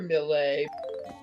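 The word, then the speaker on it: Millet: one on the right is another melee but the name is spelled m-i-l-l-e-t and it's called the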